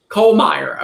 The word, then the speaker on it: Kollmeyer: And today we had on Will, how do you pronounce Will Kolemeyer. Kollmeyer.